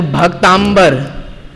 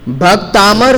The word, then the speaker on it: भक्तामर: clear कर दूं बारबार कई बार जब इसका उच्चारण किया जाता है तो भक्तांबर ऐसा मुख से निकल जाता है भक्तांबर स्तोत्र जबकि आप ध्यान देंगे तो कहीं पर भी आपको भ ता लिखा हुआ नहीं मिलेगा ये उच्चारण संबंधी बहुत बड़ी गलती हो जाती है जबकि आप देखिए क्या लिखा है भक्तामर स्तोत्र अ जबक होगा